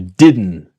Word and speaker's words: didn't: Now we are interested in training our accent to you didn't want to buy it to you didn't you didn't want you didn't okay it's that n sound remember pause listen and